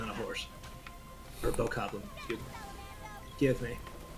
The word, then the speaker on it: Bokoblin: And there is a Guardian, a Lionel, and a tough Moblin on a horse. Or Bokoblin, excuse me.